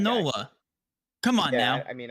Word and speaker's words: Nola: a half foreign strikeouts how do you say his last name is it Nala it's not Nola I really don't know Nala Nola you said Aaron yeah it's Aaron Nola come on now I